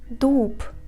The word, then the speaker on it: дуб: For example, дуб. We write Б, but we pronounce П.